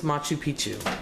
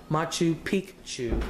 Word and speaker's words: Machu Picchu: And it says Forgotten Cities, and this one is Machu Picchu, or I should say Machu Picchu is how it's really correctly pronounced.